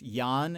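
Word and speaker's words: 燕: Swallow is pronounced yan in Chinese and an ancient name for Beijing was Yan Jing.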